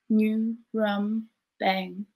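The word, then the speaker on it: Ngurambang: I was born on Nurumbang. Can you hear it? New rum bang. If you say it right, it hits the back of your mouth and you should taste blood in your words.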